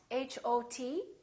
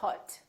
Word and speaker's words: hot: So for example, the word hot, H-O-T, we don't say hot, we say hot. It's pronounced exactly as the ah in the words father or army or watch.